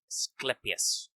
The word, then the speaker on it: Asclepius: I knew how to say this. What? I said hard C. Yeah. Clepsius. Asclepius.